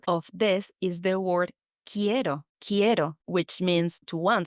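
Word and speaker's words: quiero: This is spelled qu u i e r o. Ko. It's like as it was written with K, but it's not. That's right.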